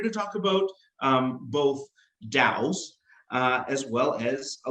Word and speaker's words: DAO: yeah we're here to talk about um both Dows uh as well as a little bit about